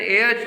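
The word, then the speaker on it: heir: है विजय इज एन एयर टू my property यहां भी एयर में भी एच साइलेंट होगा तो एयर का प्रयोग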